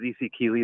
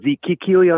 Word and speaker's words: Z.C. Keeley: So it's ZC, like the letter C, and then Keeley. So just ZC Keeley.